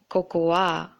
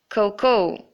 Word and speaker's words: cocoa: word is this one a lot of people pronounce this word as cocuwa including me until recently I learned that it should be Coco and not Coco ah so you have